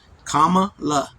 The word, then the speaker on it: Kamala: In her memoir, Harris said her name, a nod to her Indian heritage, is pronounced Kamala and means lotus flower.